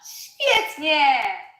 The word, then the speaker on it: Świetnie: Yes, the she, the first she is our she from ship? Ship? No, from sheep, from what? Ship, yeah. And the W is v. The W is pronounced as v, like in very, in English, right? V. Świetnie, świetnie. Actually, in this word, it sounds more like f.